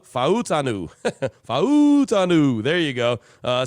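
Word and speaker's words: Fautanu: Murphy a terion Arnold tal talu fuaga Troy fantu uh no that's not how you say it fanu f fanu fanu there you go uh sound like that old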